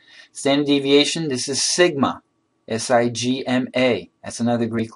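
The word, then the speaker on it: σ: This is the letter mu, M-U, pronounced mu. It's a Greek letter. Standard deviation, this is sigma, S-I-G-M-A.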